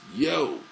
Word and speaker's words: Yeo: usual and Colin yo spelled Yeo and it's pronounced yo Colin yo lead singer guitarist from